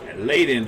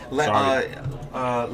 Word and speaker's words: Layden: I'd like to thank one of our new sponsors, Layden Hyundai and Subaru. Yeah, actually it's pronounced Ladin. Ladin.